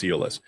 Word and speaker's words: EOLYS: It's not Eloy's, it's Eolus.